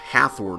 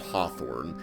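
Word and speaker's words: Hathorne: burning down the old Hathorn house, as the game is calling it. I have looked into this since the recording of the first video, and it apparently is pronounced Hawthorne, as you might expect.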